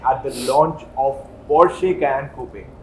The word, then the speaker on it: Porsche: या rather उसका correct pronunciation क्या है? Porsche. Porsche. क्योंकि काफी लोग Porsche, Porsche. So Porsche is the correct pronunciation.